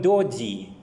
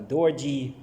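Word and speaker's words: doji: thing which is called japanese call it dodi or dorji in english they do not they cannot pronounce it like chinese or japanese it's a dodzi something of the sort but because they cannot pronounce it they spell it like d-o-j-i and call it dodgy sometimes it is also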